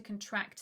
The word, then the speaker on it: contract: next one is to contract something so the stress is on the second syllable not on the first like in the noun which would be a contract this is to contract so this is the